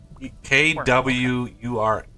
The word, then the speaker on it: quern: it into the quern, kern, whatever. I did look it up. I googled it. I googled how to Quern. pronounce, and it's quern, Kwur, quern, and then the British pronunciation is even stranger.